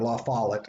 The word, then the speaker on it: La Follette: party and this is a guy named robert lafollet or la follette as he usually pronounced it and he comes from wisconsin which